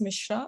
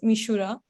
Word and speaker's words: Mishra: in Japan so my son name is Mishra which becomes mishura but my Japanese Professor